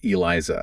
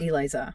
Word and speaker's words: ELISA: That's pronounced Eliza. Eliza.